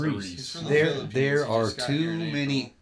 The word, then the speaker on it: Aries: Yeah, it's pronounced Aries.